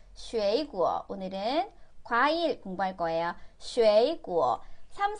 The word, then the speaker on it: 水果: 쉐이구어. 삼성이기 때문에 앞에 거 이성으로 발음하셔야 돼요.